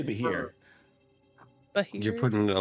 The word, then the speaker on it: Bheur hag: I think it's pronounced Bheur, yeah. That didn't help me at all. Or- Beer hag? Like, It's Bheur. Like Beer.